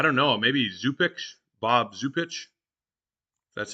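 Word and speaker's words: Zupcic: um so I don't know maybe zupix Bob zupich that's how you say his name I do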